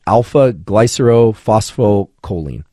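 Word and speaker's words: alpha-glycerophosphocholine: And I'm going to attempt to pronounce what alpha GPC actually is. It's alpha glycerophosphocholene, right?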